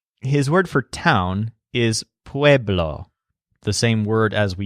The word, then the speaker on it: pueblo: word for town is pueblo the same word as we used for people with a stress on wave wave law now ciudad is on